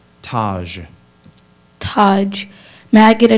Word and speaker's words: taj: The dervish was wearing a white taj made of felt. Is there any alternate pronunciations?